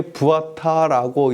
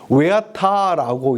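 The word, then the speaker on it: ועתה: 예, 부아타라고 우리는 읽는 것은 제가 독일 쪽에서 유학하신 분에게 제가 이 히브리어를 배웠기 때문에 부아타라고 이렇게 발음합니다. 그런데 영어권에서 히브리어를 배우신 분은 뭐냐면 웨아타라고 이렇게 발음을 합니다. 왜 이렇게 해서 발음이 약간 다릅니다.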